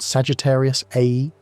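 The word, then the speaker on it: Sagittarius A*: The Milky Way's central black hole called Sagittarius AE, pronounced a star, is relatively modest by super massive standards at about 4 million solar masses.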